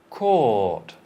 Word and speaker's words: court: Court. Court. So compare. Cot, Cot. court. Court. In American, they're both like cart and cart.